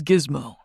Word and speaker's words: Gizmo: If I had told you my name was Gizmo. With a hard G.